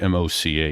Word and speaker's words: MoCA: while you're looking for that I'll mention that mocha is spelled m-o-c-a it's in our show notes but yeah MoCA